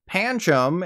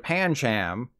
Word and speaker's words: Pancham: Some rapid-fire examples of this are Palossand instead of Palossand, Panchum instead of Pancham, Pidove instead of Pidove, Pikipek instead of Pikipek, and Pupitar instead of Pupitar.